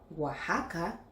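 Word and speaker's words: Oaxaca: Il y a aussi Oajaca, Texas, Jalapa. Ici il ne faut pas se laisser emporter par l'orthographe : bien qu'il s'écrive avec "x", il faut toujours le prononcer avec "j".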